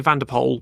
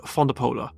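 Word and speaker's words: van de Poele: Antonio ponia Eric fondola a lot of people say vapo but it's actually Eric fondola jacqu po Ben Pon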